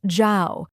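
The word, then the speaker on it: 曌: The character combines the sun, the moon, and the sky and is pronounced Xiao, meaning illuminating.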